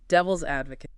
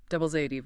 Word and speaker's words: devil's advocate: Devil's advocate. The stress is on AD. Devil's AD.